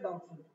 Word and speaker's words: doubt: वैसे तो होते हैं डाउटफुल, जिसपे शुबा वो चीज क्या कहलाती है? डाउटफुल। डाउटफुल की स्पेलिंग प्लीज कोई बताए। सही ना, DOUBT, डाउट, बी नहीं पढ़ लेना, साइलेंट है, डाउटफुल।